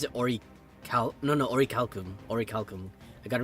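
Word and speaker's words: Orichalcum: Ori or is it Ori Cal no no Ori calcum Ori calcum I got to remember Ori calos Ori calcum until we learn otherwise or or calcum I'm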